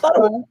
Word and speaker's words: pho: Yeah, it's pronounced pho.